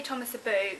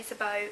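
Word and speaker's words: Thomas Sabo: I say Thomas Sabu. Some people say Sabot. It just depends how you say it.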